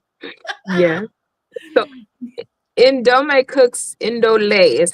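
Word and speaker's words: Ndolé: Indole is how it's pronounced. Indole.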